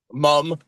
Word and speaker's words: Muhm: Muhm, M-U-H-M. Mom.